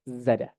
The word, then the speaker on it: Zara: bisnis dan menciptakan efisiensi Zara Bacanya adalah Zada Zada ya bacanya Kun ya ya Zada Z Zada eh mereka melakukan inovasi fashion